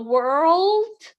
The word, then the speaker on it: world: if you say it if you give more emphasis on the r it sounds a little bit like word sorry word so it